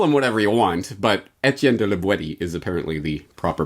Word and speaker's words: Étienne de La Boétie: with this call them whatever you want but etienne de libweti is apparently the proper pronunciation terrific let's now that we know the author's name let's get into the content starting on page 42.